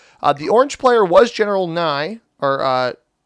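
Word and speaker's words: Nguyen: So the orange player was General Nye, or, well, that's pronounced, it's normally Win when it's got the EN. So General Wee, that's what we'll go with.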